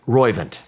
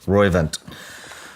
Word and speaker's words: Roivant: Roivant. Roivant.